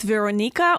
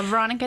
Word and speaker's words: Veranika: in the studio with Veronica or Veronica from Belarus is it Veronica or Veronica Veronica Veronica I make it easier for people here so just say Veronica do people have trouble